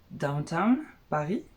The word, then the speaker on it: DWTN Paris: Alors je pense que ça se prononce Downtown Paris. Downtown, je sais pas.